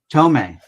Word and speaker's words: Thome: Thome or Tome, or some people say it so many different ways. How do you say it? Jim Thome. What's that? Tome, that's what I thought.